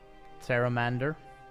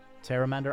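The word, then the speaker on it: Pteramander: we can adapt the Terra Mandor I guess that's how you say it Terra Mandor I think the P is silent right it looks like the P is silent because otherwise it makes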